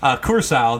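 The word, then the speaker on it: Curaçao: Let me pronounce it right. Let me not bender it up in here. Curacao.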